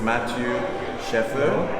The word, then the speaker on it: Matthieu Schaeffer: This is Matthieu Schaeffer. Exactly, nice Yes, pronunciation.